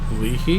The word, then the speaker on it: Leahey: word leaky like that leahey like a leaky faucet how would i say